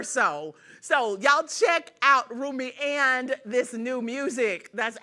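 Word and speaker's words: Rumi: so Beyonce always knows what she doing so roomie am I saying it right roomie Roy don't y'all get mad Carter is officially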